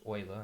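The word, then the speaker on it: Euler: to be introduced to Oiler number this is pronounced Oiler I know it's weird um and his number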